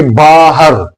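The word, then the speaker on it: باہر: और सही लफ्ज़ आप सामने देखिए बाहर, बा अलिफ बा और हे के ऊपर ज़बर,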